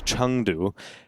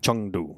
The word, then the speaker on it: Chengdu: That's how I believe they say. Harry was teaching me, you know? It is a Chengdu. It's not a Chengdu. No, but it is spelled that way.